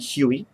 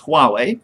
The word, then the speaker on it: Huawei: of a mouthful um had trouble pronouncing the word to begin with OR saying Huey um just because I read it as it looks but it's completely wrong it's Huawei from what I can tell and it's idos